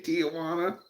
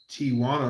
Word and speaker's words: Tijuana: And I think I disagree back about Mangoes and how to say Tijana. I like kiwi. It's the furry fruit. Tijuana Doug. It's Tijuana.